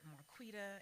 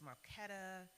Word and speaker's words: Marquita: And it was never Marquita. It was always Marquetta or what's your name?